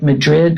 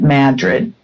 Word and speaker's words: Madrid: in the small mountain community called Madrid it's spelled like Madrid but it's they pronounce it Madrid and it's a village it's very small yeah